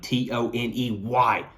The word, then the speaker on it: Toney: Number two, Malachi Toney, Toney. Toney rhymes with money, depending on how you say money.